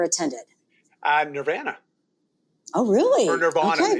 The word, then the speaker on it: Nirvana: Or Nirvana. Okay. It depends how you say it. You got to remember, I got a Canadian accent. So Nirvana.